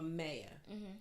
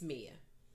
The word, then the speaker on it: Mia: and she said is it Mia or Maya I said thank you it's Mia and she was like